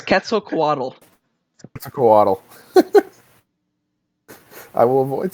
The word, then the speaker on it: Quetzalcoatl: Please don't make me pronounce it. It's Quetzalcoatl. Quetzalcoatl. I will avoid saying it as much as possible. I can tell. Or if you're a linguistics nerd like I am, Quetzalcoatl.